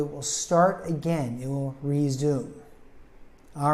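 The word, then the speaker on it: résumé: you should update your resume the game will resume when the rain lightens up resume actually is originally a French word but it's three syllable word resum the me sounds like an Ma and it's a piece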